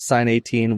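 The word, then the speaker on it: Sine 18: there Etc yeah so first sin 18 is spelled s i n e for the engineers out there like s cosine so s 18 people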